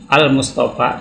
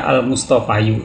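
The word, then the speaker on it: المصطفى: Seperti Musa, iya sebelumnya ada huruf hidup, maka seringkali ini dimatikan huruf iya-nya ini ya, sehingga dibacanya Musa, enggak Musayu. Al-Mustafa, tidak Al-Mustafayu.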